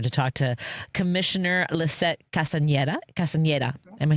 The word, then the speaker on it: Castañeda: Again, it's really been a pleasure to talk to Commissioner Lissette Castañeda.